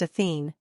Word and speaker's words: Athena: his past Greek mythology Athena also pronounced athene also referred to as